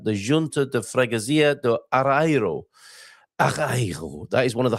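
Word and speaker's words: Areeiro: this evening at the Junto de Fragazia de Arro. That is one of the hardest Portuguese neighborhoods to pronounce, I would say.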